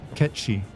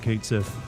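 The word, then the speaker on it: Cait Sith: a Scottish accent but his name can't be pronounced the Celtic way well that's because everyone would make fun of it it's if you pronounce it the correct way it's ketchy and let's be honest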